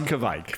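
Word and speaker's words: Kveik: I talked to them about, Kvike, Norwegian yeast strain, Kvike, no matter how you pronounce it, we're all finding new ways to say it. Yeah, it's Kvike.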